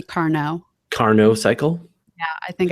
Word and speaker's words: Carnot: I thought I said Caro, but there is an N in it, so it could be Carnot.